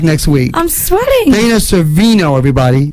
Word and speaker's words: Cironi: Dana Cironi, everybody. Did I say it right? Cironi. Cironi. It's Dana Rooney. Dana. Just Dana Rooney.